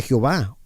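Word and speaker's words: Yahweh: wow hey ya ve la pronunciación de estos cuatro constantes es desconocida debido a que en el hebreo antiguo se escribía sólo con consonantes o es decir sin vocales y no se sabe cuáles vocales son las que se usaban con estos cuatro consonantes aún estos cuatro consonantes comúnmente se pronuncian como yaway oo también a veces como llave o ya así también como la excepción común de jehová o job a es posible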